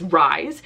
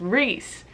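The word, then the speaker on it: Rhys: thought his name was Rise. So in my head, I still say Rise. What is he, bread? I just can't read that as Reese.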